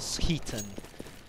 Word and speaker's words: skitten: Yeah, I swear down someone once gave me a lecture in Swedish that skitten is apparently pronounced as skiten.